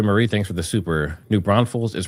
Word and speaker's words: New Braunfels: New Braunfels is pronounced New Braunfels.